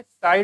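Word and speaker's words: psi: Water potential इसको हम लिखते हैं साई डब्ल्यू से, साई त्रिशूल जैसा लिख रहा है, इसको हम लोग साई बोलते हैं, क्या बोलते हैं, साई। This is नॉट साई Baba, this is साई, please silent.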